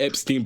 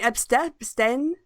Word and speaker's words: Epstein: They tried to rhyme it with something else, and it was Epstein.